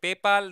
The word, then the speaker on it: PayPal: इफ़ यू are using पेपाल then पेपैल. Okay पेपैल भाई खुश लोग मेरे को इतना बोलते पेपाल नहीं है पेपैल है भाई.